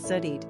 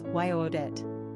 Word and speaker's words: Judith: The French pronounce Judith Zudit and the Germans Yo-odit.